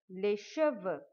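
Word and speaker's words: cheveux: first we describe leshova be careful for the pronunciation because lesh it means hair leshev but if you say lesher vo vo then it means horses and we don't have the horses on our head so um long hair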